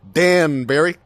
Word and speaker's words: Danbury: We made a joke about Danbury before, just sounding with his first syllable very similar to damn, as in damn boy. So Danbury, or could have.